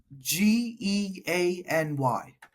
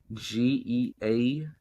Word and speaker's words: Geany: Hopefully, I'm pronouncing it wrong. Geany. Geany.